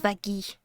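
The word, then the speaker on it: Vaggie: Une bonne fois pour toutes ça se prononce Vagy.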